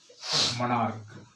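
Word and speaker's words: monarch: उरण क्या होगा को मोनार्क एम ओ एन आर सी मोनार्क मोनार्क में भी सी का उच्चारण क्या होगा को होगा जब सी का उच्चारण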